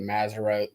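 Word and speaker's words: Mazzaroth: And I got a Facebook friend or two that they really get into the Maserote, Doug, is that correct pronunciation?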